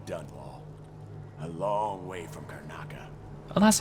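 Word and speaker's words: Karnaca: A long way from Carnaka. Oh, that's how you pronounce it.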